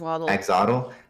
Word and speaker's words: axolotl: I just learned, I said this before, but like what an axolotl, is that how do you say it? Yeah, axolotl.